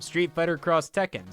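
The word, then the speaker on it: Street Fighter X Tekken: between two words to symbolize a crossover and pronouncing again across fire emblem street fighter cross tekken street fighter cross mega man project cross zone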